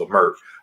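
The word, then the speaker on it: Leimert: Obviously, L Mer, that's how you pronounce the neighborhood.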